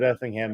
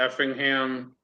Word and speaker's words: Effingham: near us is Effingham, Illinois. Spell it.